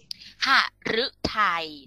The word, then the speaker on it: หฤทัย: กัน ทำไม พูด เล่า หฤทัย ตัว ฤดู บอก แล้ว ว่า ออก เสียง เรือ แต่ ถ้า เป็น หรือ หัว ออก เสียง เป็น ล ลิง นะ อะ หฤทัย ก็ แปล